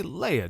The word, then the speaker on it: Leia: c-3po together to tatooine is it leah or leia they say leia don't they in the movie i hear they do say leia it's regional i've heard george lucas didn't correct anybody's pronunciations on set because he said it was regional it's true wow okay